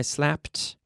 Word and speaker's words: slapped: Every day I slap, yesterday I slapped, lately I have slapped. See that P sound onto the T? No extra syllable.